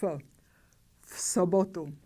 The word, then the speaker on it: v sobotu: We pronounce the voiceless pair F. V sobotu.